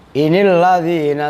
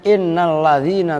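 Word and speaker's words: إِنِ الَّذِينَ: Nah ini Inil ladzina tad'una min dunillahi ibadan amsalukum. Itu bukan inna. Kalau ulama-ulama yang lain bacanya innal ladzina tad'una. Ini bukan innal ladzina tapi inil, asalnya ngerti?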